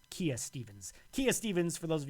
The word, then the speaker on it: Kia Stevens: We're looking for Kia Stevens. Or Kaya Stevens. How do you pronounce it? Kia Stevens.